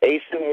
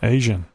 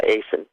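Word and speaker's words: Aisin: Big Jim, it's Asen Warner? Yes. That's American. Is it? Yeah. Maybe I was mispronouncing the Asen being Asian.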